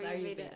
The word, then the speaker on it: Ayurveda: And so for everyone listening out there, so Rocio does, and I might mispronounce this wrong, Ayurveda? Yeah, it's Ayurveda.